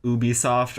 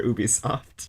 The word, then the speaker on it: Ubisoft: talking about whether or not it was called Ubisoft or Ubisoft in the middle Yeah, they of spent their a long time in pre-show the live pre-show.